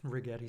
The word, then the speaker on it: Rigetti: This one rhymes with spaghetti. So retail traders love this rigetti spaghetti.